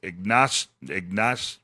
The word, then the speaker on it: Ignacio: Our buddy Brant and you corrected me on my pronunciation of Ignacio. It is pronounced Ignacio.